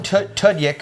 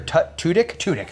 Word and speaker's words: Tudyk: And Alan Tudyk, or Tudyk, that's how you say it, who's in 28 Days, Wonder Boys, and obviously Firefly.